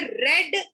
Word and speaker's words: read: Then you have some verbs which don't change in the spelling, but maybe their pronunciation changes. For example, read, हम इसको बोलते हैं रेड, लेकिन लिखते READ ही है.